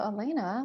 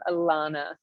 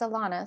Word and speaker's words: Alana: show thank you and just one little correction love you say my name alana oh my goodness i'm so glad you i and i meant to ask you that at the beginning but thank you it's alana so welcome everyone that's